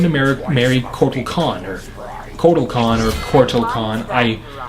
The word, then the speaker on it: Kotal Kahn: marry marry Corky Connor Kotal Kahn or portal Kahn I apparently I've been mispronouncing him the entire time it's not quarto its total or quartile or I don't know